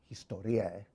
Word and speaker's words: historiē: of this medium of Historiā, or as he pronounced it, Historiē, which is derived from